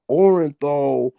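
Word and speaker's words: Orenthal: You talking about OJ and how about Orinthal rhymes with Neanderthal.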